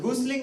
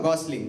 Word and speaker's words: gosling: I don't know how it's pronounced. Goosling or gosling?